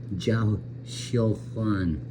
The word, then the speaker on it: Zhao Xiu Huan: That's Zhao Xiu Huan. It's proper pronunciation.